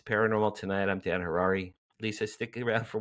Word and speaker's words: Harary: I'm Dan Harary. Rhymes with Ferrari.